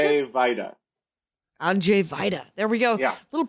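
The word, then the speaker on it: Andrzej Wajda: w-a-j-d-a that's correct that is and it's pronounced Andre whitea is that how you pronounce it I'm Jay Vida there we go yeah little polish uh little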